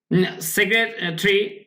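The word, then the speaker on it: secretary: তিনি বলেন দি ইউএন সেক্রেটারি বলছে এই যে হি সেড তিনি বলেন দি ইউএন মানে ইউএন মানে ইউনাইটেড নেশনস জাতিসংঘ সেক্রেটারি সেক্রেটারি সেক্রেটারি জাতিসংঘের যে মহাসচিব উচ্চারণ কি সেক্রেটারি এটা টারি এরকম হবে না সেক্রেটারি সেক্রেটারি জাতিসংঘের মহাসচিব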